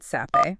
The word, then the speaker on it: Sappe: It's created by David Sappe. Pronounced Seppi.